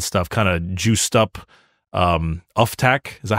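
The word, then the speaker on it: Ufthak: the homunculi and stuff kind of juiced up Uftak. Is that how you pronounce it? Uftak? Uptake, yeah.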